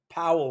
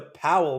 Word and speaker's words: Powell: So, you know, this this right here, this green candle, we we we had that POW movement, which rhymes with bowel movement. We had the Powell movement on Friday.